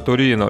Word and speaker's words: Торено: Либо же это опечатка, вызванная тем, что на слух даже когда написано Торрено, все равно читается Торино, и сами персонажи тоже произносят именно так.